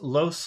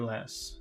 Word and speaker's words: loess: These loess lands, now I'm thinking I'm pronouncing it wrong again. Now, let me just, loess, is it loess or less? Let's see. Less. Less, okay, I was pronouncing it wrong.